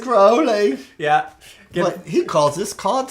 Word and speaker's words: Crowley: you wanna absolutely because it rhymes with holy it's not crowley he will tell me yeah every time michael is it crowley it's probably chris it's crowley yeah he calls this